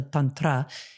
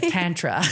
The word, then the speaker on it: tantra: it with incredible skill, because this is a Sanskrit word, and so the is like a long so tantra is the proper way to say it, and then obviously in America we have butchered it, and it sounds like tantra.